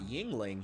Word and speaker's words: Yuengling: I talked before about how we just got Yuengling here.